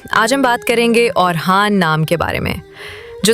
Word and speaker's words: اورحان: تاریخ کی کتابوں میں کہیں ان کو اورخان لکھا گیا ہے، لیکن ترکی والے اصل میں کہتے ہیں اورحان۔ اب ذرا یہ حقیقت سن کے چونک جائیے، ترکی میں خا کی آواز ہے ہی نہیں، وہ خان نہیں بول سکتے، بس کہتے ہیں ہان۔ اب آتے ہیں ہم برصغیر والوں کی طرف۔ ہماری عادت عجیب ہے، اورحان کو بدل کے اوہان بنا دیتے ہیں، نہ را باقی رہتا ہے اور نہ ہا۔ اب سوچیں، اگر کوئی